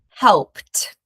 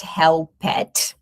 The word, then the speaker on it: helped: So we're going to say helped. helped Notice that we don't pronounce the e sound here. It's not help-ed. It is helped.